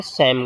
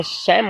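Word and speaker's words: Psalm: यहाँ पे प्यारे बच्चों आप देख सकते हैं, यहाँ पे P और L, ये जो 2 लेटर हैं शैम का, ये साइलेंट है। इसे हम द शैम ऑफ लाइफ कहेंगे, यानी जीवन का धर्म गीत।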